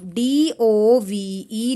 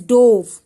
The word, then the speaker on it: dove: D-O-V-E, dove. Past tense of dive, that is dove. D-O-V-E, dove. Spelling is same, pronunciation is different, meaning is different.